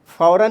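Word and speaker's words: فوراً: फ़ौरन में भी हम नून प्रोनाउंस कर रहे हैं, लेकिन लिखने में अलिफ लिखा जाता है।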